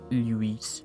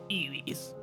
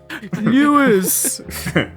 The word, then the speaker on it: Luis: Luis. Yeah. Eewees. Because yeah. Anytime I hear Lewis, I think of how Leon Kennedy intentionally mispronounces Luis's name in Resident Evil 4.